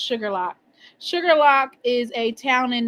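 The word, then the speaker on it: Shuqualak: Oh, it's it's pronounced Sugarlock.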